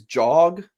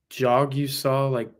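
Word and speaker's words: Jagusah: Jog-U-Saw. That's how they have it written. Jogusah, okay. Jogusah. It's not that hard. It's a jog that you saw.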